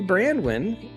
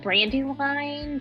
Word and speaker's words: Brandwin: amazing because I think it's a really easy last name to pronounce it's just like two words throughout my entire life they're like brandy wine brand wine I'm like I don't